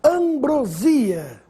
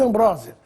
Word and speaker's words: ambrosia: o aumentativo de acordo Ambrósia ou ambrosia Essa é a pronúncia correta ambrosia é a ambrosia do doce do alimento dos deuses gregos ambrosia nada de Ambrósia Ambrósia só se for